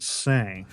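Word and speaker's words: Seine: s because it's got but it's French so it's like sen or whatever you know you say it different I'm English I'm not French YouTube experts actually it's pronounced say I've had so many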